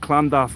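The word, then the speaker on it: Llandaff: than the Welsh language LL yeah which is pronounced C clandav LL a-n-d-f-f-d-a-f-f yes Bishop clandolph the beauty of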